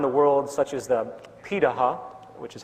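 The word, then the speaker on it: Pirahã: hunter-gatherer societies around the world such as the pitaha which is how it's pronunciated out of brazil amazingly it appears that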